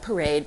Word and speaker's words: Parade: the collaboration for Parade, which is spelled like parade, but for some reason everyone says Parade because I started out in France.